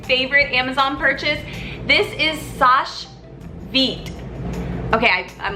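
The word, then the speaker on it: Seche Vite: Amazon purchase this is Sasha vite okay I'm like looking like how do I pronounce it it's Sasha feet I use it so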